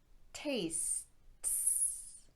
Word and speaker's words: tastes: risks with his investing tastes tastes tastes by the way the e in this word is silent so it still follows our s-t-s sound pattern that tastes absolutely delicious